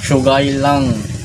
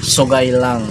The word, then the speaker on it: Sougayilang: R na to ay Paano pronounciation nito sugay lang Ayan parang sugal langg mga sa description ng